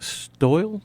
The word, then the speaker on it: Stoyle: about coffee we have Karen Basset and stole did I pronounce that you got it yeah one's from